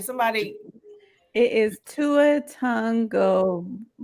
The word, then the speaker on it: Tua Tagovailoa: It is Tua Tagovailoa.